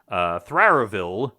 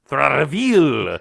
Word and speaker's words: Tharavil: But very importantly, our illusionist, Thraravil, you say it. I keep saying it wrong. Tharavil. Think Bela Lugosi in Dracula.